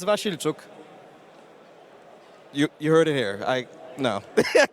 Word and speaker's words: Wasilczuk: But I'm not going to even try to pretend to pronounce his name. Could you say it for me? Sure. It's Wasilczuk.